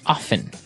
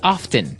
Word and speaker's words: often: Now with pronunciation, some people like to pronounce often, right? They kind of leave out the strong T sound. Well, other people say often.